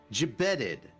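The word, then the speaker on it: gibbeted: Jib. Jibetted. It's almost like jabated.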